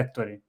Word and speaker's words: Ettore: Né, tem mais essa, como é italiano não tem acento, então dos 94 mil inscritos, eu imagino que menos de 1.000 sabem a pronúncia correta. Só provavelmente aqueles que conhecem um diretor de cinema chamado Ettore Scola. E eu também não fico falando o meu nome nos vídeos, né? Mas então a Sim. pronúncia correta é Ettore.